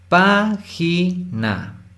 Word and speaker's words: página: Página. De estas 3 sílabas, página. Pa es la sílaba tónica, que sería última, penúltima, antepenúltima. La antepenúltima sílaba es la tónica, eso significa que es